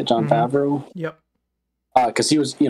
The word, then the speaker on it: Favreau: Favreau?